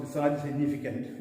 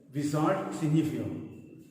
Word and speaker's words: visage signifiant: It is not to be pronounced visage significant or significant. Visage signifiant. The G is pronounced as je and signifiant, A-N-T is pronounced as un.